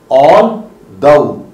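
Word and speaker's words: although: एक तो इसको बोलने में लोग गलती करते हैं, आल्दो बोलते हैं, और कभी कभी इसको द द कह देते हैं. इट इज दउ. सो आप इसको प्रोनाउंस कैसे करेंगे? ऑल दउ.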